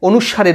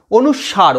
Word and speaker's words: অনুস্বার: পাচ্ছি, সেই উচ্চারণটা হচ্ছে অনুস্বারের উচ্চারণ। অনুস্বার, অনুসাং নয়, অনুসাং বলে অনেকে, অনুস্বার।